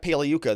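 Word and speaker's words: Pagliuca: So then we get very brief cross-examination from Jeff Paleuca. The G is silent like lasagna.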